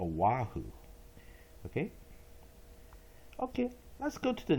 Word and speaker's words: Oahu: the people there say Oahu oh so you don't see the w but it is pronounced as a wahoo okay okay that's good